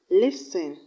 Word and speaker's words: listen: is on silent letters silent letters examples of words that have silent letters are listen whistle castle the t's are silent when you have s and t together in a word when you have t